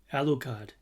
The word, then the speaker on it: Alucard: alcorn all right ouch the owl card right alucard got the pronunciation right brother and sister right scary ones